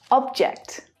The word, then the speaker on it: object: Object, object.